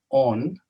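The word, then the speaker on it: ὤν: This is written not with omicron, but with omega, as we say in Greek, which is a long O because it is masculine, but it is the same word, on.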